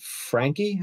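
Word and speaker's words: Franke: we're looking at is by a company called frankie i think it's how you pronounce it it's f-a-r-n-a-n-k-e and uh it just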